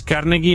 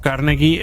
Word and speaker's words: Carnegie: Andrés Carnegie nació en Escocia, por eso digo Carnegie en vez de Carnegie, ya que así lo pronuncian los escoceses.